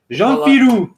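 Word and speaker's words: Jean Fillioux: And then, how do you pronounce this? Oh, thanks, Jean Filou. Jean Filou.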